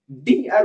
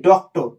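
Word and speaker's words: Dr.: institute এভাবে বলা হয় আবার দেখেন এখানে আছে কি ডিআর তো আমরা ডিআর উচ্চারণ করি না কখনোই এটা হয় না ডিআর আমরা কি বলি ডক্টর মানে প্রত্যেকটা লেটারকে আলাদা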